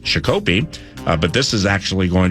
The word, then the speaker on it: Shakopee: That's your Fan Traveler's Forecast, otherwise known as the traffic report that takes place from the hinterlands, and Shakopee is pronounced Shakopee, but this is actually going to be incredibly accurate.